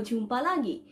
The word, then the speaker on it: jumpa lagi: So jumpa lagi. So this word is pronounced as ja ja ja, okay?